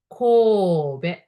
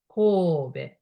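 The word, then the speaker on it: 神戸: But as I mentioned, English E is e, so Kobe, Kobe.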